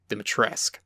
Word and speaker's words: Dimitrescu: Dimitrescu. Oh, you don't pronounce the U? No. Weird. Okay. It's a, European thing.